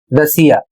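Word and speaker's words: Russia: यहां पर ध्यान देना है कि एस या डबल एस के आगे यदि आई ए या आई ओ एन आता है तो आपको पढ़ना है श जैसे यहां पर लिखा है उदाहरण के माध्यम से समझिए आर U double S आई ए और इसे पढ़ा जाएगा रशिया यहां पर देख सकते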